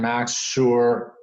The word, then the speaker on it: Maxxsure: right so just to be clear Matt sure is spelled ma xx s ure and Mac's sure comm is the website and ok so I